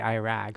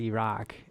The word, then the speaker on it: Iraq: I I want to say Iraq, but it's pronounced Iraq and Iran.